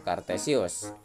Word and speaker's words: Cartesius: Ini tulisannya cartesius. Kita membacanya yaitu kartesius, yaitu latinisasi untuk Descartes.